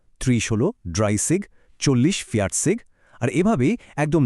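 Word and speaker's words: dreißig: 20 হলো সোয়ানসিগ, 30 হলো ড্রাইসিগ, 40 ফিয়াটসিগ, আর এভাবেই একদম 90 বা নয়নসিগ পর্যন্ত গঠিত হয়েছে। এখানকার উচ্চারণগুলো একটু মন দিয়ে খেয়াল করবেন, বিশেষ করে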